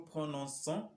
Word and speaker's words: prononçons: Mais à la première personne plurielle, il faut noter pour pouvoir prononcer ça comme nous prononçons, il nous faudra mettre yun cedi, à la lettre C. Donc, sans la cedi, ça va se prononcer nous prononçons ou nous commençons ou